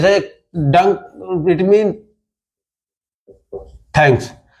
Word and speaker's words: Danke: जैसे डंक it mean thanks, तो जर्मन लोग प्रोनाउंस करते हैं थैंक यू को डंकू, डंकू, डंकू। थैंक यू को हम लोग प्रोनाउंस करते हैं थैंक यू, थैंक यू, थैंक यू, डी ना कि टी, DANKE, डंकू, थैंक यू, थैंक यू।